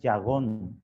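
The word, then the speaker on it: יגון: del hebreo 30-15 que se escribe se pronuncia ya gong con y gong y significa dolor angustia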